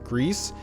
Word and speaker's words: Gris: Tracks down conclusive evidence showing that the game's name is pronounced Greece. Daniel continues to call it Gree. I'm calling it Gree because Jess at home is French Canadian.